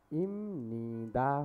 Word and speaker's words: 입니다: अब सर्वप्रथम त हामीहरूले यस बेसिक ग्रामरमा के सिक्नेछौँ भने नाउनसँग इम्निदा यसको उच्चारण चाहिँ इम्निदा हो है, इम्निदा हो।